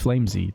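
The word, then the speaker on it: flameZ: or the man himself i asked flames of you how he pronounced his name he said it's flamesy therefore i'm gonna believe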